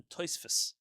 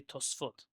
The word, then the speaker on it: Tosafot: Ashkenazim famously call them the Tosfos. Yeah, so there's no sa, it's tos. They would say Tosfot, and that's how the Israelis say it too, but we don't say it like that.